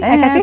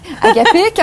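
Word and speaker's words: hakapik: Je l'ai bien prononcé, Akapix? Presque. Akapik, on n'a pas besoin de prononcer le S.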